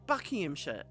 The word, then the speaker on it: Buckinghamshire: letters um you know Bucky him sh it's sh at the end we don't bother with SH it's sh